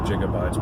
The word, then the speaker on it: gigabytes: And I know it's supposed to be pronounced gigabytes, but hey, that's the way I do it. So that's the way it is. It's a G. If they wanted to pronounce it with a J sound, they should have put a J there.